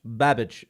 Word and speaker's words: Babic: one is by Cole Roland and Lauren babage babage I believe that's how you pronounce it yes I I've known I don't